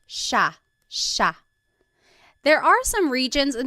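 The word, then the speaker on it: siya: but it's actually pronounced sha sha. There are some regions in the Philippines that might pronounce it sia, but for the most part in the central Luzon Tagalog speaking areas, it's pronounced sha sha.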